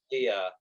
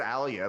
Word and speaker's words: Alia: yeah, but no, I'm just making sure that my pronunciation of like words in this book are different than yours. I Hmm. say Aaliyah. I think you said it differently. Oh, I Uh, said Alia, but I'll, you know.